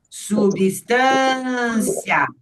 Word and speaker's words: substância: Como essa é a sílaba forte, olha o movimento que eu fiz com a boca e representei com a caneta, ó. Substância. Então, a última sílaba você fala num único movimento.